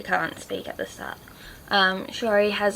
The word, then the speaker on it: Shiori: This one's about Shiori, Princess Shiori, that's how you say her name.